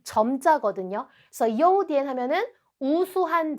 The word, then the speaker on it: 优点: 그래서 요디엔 하면은 우수한 점, 즉 장점입니다.